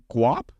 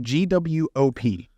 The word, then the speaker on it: guap: Guap? Like an avocado? Like guac? No, guap. Oh, guap. Guap. Pronounced GWOP.